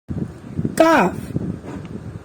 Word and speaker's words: calf: also L remains silent calf chalk fork almond in these words L remains silent what's some other words